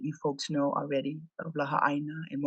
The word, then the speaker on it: Laha'āina: hence the name La more properly spelled and pronounced as La said almost as two words almost as two words